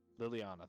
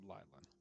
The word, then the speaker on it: Liliana: Liliana, thank you. I almost said Lylan.